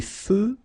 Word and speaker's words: feux: Des feux de circulation. So here final X not pronounced.